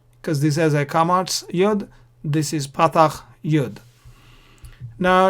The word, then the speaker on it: yod: of segal sometimes also the letter yod is pronounced as youth as well so you might hear me saying yud sometimes so don't worry